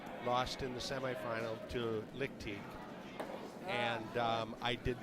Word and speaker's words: Lickteig: So this is Tom Lickteig's team, which I don't know him and I don't know how to pronounce this. Chris, but I would say Lickteig because it's German. Lickteig? Lickteig. It's more Teague.